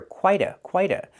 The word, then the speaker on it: quite: Pronunciation, we hear quite a. The T changes to a fast D in American pronunciation because the T is between vowels. Not quite a feat, but quite a feat.